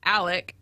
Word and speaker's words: Alex: Yeah, it's spelled like Alex, Alex, but it is pronounced Alec, and then their last name is pronounced or spelled phonetically Murdaugh, but they say Murdoch.